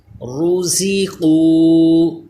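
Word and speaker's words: رَزَقُوا: رزقوا. زا کو تھوڑا دبا کے پڑھیں جیسے سیٹی پیدا ہو. را بھی پر پڑھا جائے گا کیونکہ پیش ہے.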